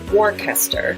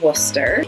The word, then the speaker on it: Worcester: A lot of letters in there, just kind of suggestions. And then similar to Worcester is Gloucester and Leicester. They both have that CES combination that Wooster does that you kind of just smoosh all together.